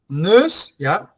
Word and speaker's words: neus: and is neus, neus, here you say the combination of e and u, that is pronounced as e, like, how can I, what similar sound can I explain it to you in English? The e sound? News. Nurse, yes, nurse. Can you repeat that?